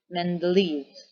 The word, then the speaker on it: Mendeleev: spelling is dmi dimitri mendeleev m-e-n-d-e-l-e-e-v but the mentally is actually proper reading and pronunciation of that is mendeleev mendeleev as if there's an f but there's no f in the spelling so since it's english